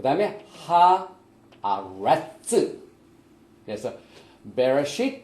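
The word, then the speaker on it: בְּרֵאשִׁית: 그래서 우리가 오늘 토라 사이클이 새로 시작되는 첫 말씀이 베레시트가 들어있는 말씀, 창세기 1장 1절 말씀을 우리가 많이 발음을 해봤지만은 우리가 다시 한번 하나하나를 발음을 해보겠습니다.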